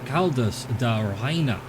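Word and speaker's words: Caldas da Rainha: town that has the algorithm demon gremlin is caldas adarahaina there we go that's how it's pronounced and then the Lagoon is just beyond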